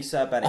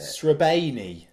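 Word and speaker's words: Srbeny: Rob Butler did tweet out how you pronounce it. Srebeni. It's something like that.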